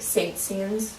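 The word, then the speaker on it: Saint-Saëns: I don't know how to pronounce it. It's STSDANS. I think Saint Saëns.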